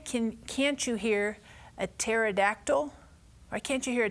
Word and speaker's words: pterodactyl: can't you hear a pterodactyl why can't you hear a pterodactyl go to the bathroom and the reason why hmm this is because the P is silent I know pterodactyl but I know is